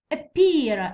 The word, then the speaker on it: appear: Stress اللي في noun تاع two syllables دي ما يجي في الأول. Culture. Appear.